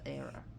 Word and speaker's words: Hera: I should say Zeus, because Zeus is pronounced Zeus and Hera is pronounced Era.